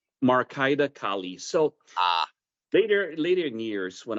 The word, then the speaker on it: Marcaida Kali: And I will mispronounce this, so please correct me. Marcaida Kali? Marcaida Kali.